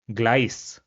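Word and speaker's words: Gleis: So we will pronounce it as glice and this means platform.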